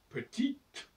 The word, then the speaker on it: petit: que dans certains cas on prononce une consonne dans autre cas on prononce pas selon que le E se trouve après la consonne ou pas par exemple petite et si on enlève le E ça devient petit il y a plus